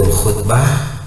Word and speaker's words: khutbah: Khutbah itu diartikan pidato itu ketika dibaca khutbah. Tetapi kalau ketika membacanya khitbah, itu akan menjadi lain maknanya.